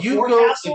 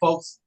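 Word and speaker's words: forecastle: will tell you I call it the four castle but that's not how you say it. I would say folks Yeah. If you say four castles in the Navy they will they will laugh.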